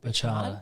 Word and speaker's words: Burchard: Burchard, yeah.